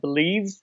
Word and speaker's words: BLEAV: I got hired back in September with this podcast network called Believe, uh-huh. and I'm in talks with another network for a basketball podcast. But Believe is spelled BLEAV, Believe Podcast Network.